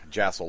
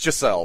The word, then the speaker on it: Giselle: That name really sounds, the way you pronounce it, sounds like you're calling her an asshole. I know. It's Giselle, for anybody who really wants to know.